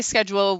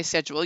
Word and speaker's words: schedule: a British transvestite stand up comedian you say schedule we say schedule you say aluminium we say aluminium you say